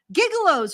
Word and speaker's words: gigolo: It's pronounced gigolo. Gigolo. Right. Gigolo. I like gigolo. I know it looks like gigolo, but it's gigolo.